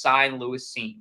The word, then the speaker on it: Cine: I think Cine is how you say it.